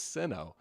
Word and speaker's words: Sinnoh: And I'm like, Sinnoh. that's actually crazy. It's Sinnoh. That does make sense. I suppose the way it's spelled out, right?